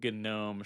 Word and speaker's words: GNOME: Uh, I feel like the coding name Gnome should pronounce the G so you can tell the difference.